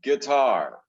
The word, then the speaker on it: guitar: well, in English, it's guitar. Guitar. The I or the is silent.